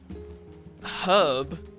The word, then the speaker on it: herb: H is silent, the only way to pronounce it ever. Well, aren't you a library one? I mean, the only reason I pretend to really have an opinion about it is because you do. Because, you know, you can pronounce it however you want. But herb was how it was pronounced in the English language first.